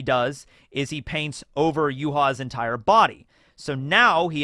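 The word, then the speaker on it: Yhwach: spell Juha as well but uh yeah it's yuha Baja but I always omit the Baja I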